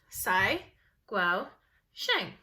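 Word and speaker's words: Cai Guo-Qiang: name is saigo jang here's how to say my name sai gual shank and my home city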